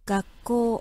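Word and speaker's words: 学校: Par contre, quand il est en début de phrase, donc par exemple, gakko, écoutez bien comment c'est prononcé. Gakko, gakko. Vous voyez, si on refait le test, gakko, c'est pas gakko, gakko, c'est pas ça, c'est gakko, gakko. Sans passer par le nez, parce que le ga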